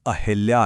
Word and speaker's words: अहिल्या: यह अहिल्या नहीं बल्कि अहिल्या है। जी हां, इसमें ई की मात्रा का तो कोई काम ही नहीं है।